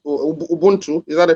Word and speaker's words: ubuntu: and i mean there's something that they say ubuntu is that a correct pronunciation yeah yeah ubuntu yes yes you are because i am right